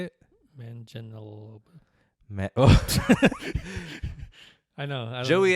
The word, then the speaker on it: Manganiello: You know your boy from Magic Mike, Joe Magnilio? How do you say it? Manganiello.